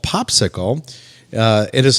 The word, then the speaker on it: Popsixle: very very relevant and again it is called popsicle uh it is spelled p-o-p-s-i-x-l-e so let's first start with what's